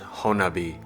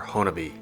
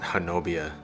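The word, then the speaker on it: Honobia: After spending a little time in southeast Oklahoma in this area I learned it's actually pronounced Honabi or Honabi, not Hanobia to the locals.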